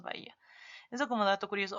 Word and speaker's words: Bahía: Si leyéramos la H del inglés, leeríamos Bahía. Pero nosotros ignoramos, así que solo leemos Bahía.